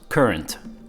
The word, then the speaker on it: currant: on the screen okay so red currant is pronounced current from my research here it looks like currants